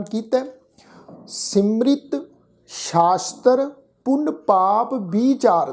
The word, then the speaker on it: सिमरित: इस शब्द के पाठ विच असीं पाठ उच्चारण करांगे सिमरित, क्योंकि इत्थे 31 सिमरतियां दी जिहड़ी है वो गल गुरु अमरदास महाराज जी कर रहे हैं।